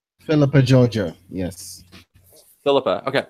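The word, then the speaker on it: Philippa Georgiou: Giorgio.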